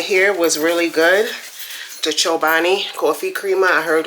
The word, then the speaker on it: Chobani: after checking out the Chobani um or Chobani. I say Chobani cuz that's just how I feel it's pronounced.